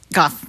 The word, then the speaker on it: Goff: So Steve was nominated by a parent, is it Goff? Is that how we pronounce her name? Goff. Okay, Goff.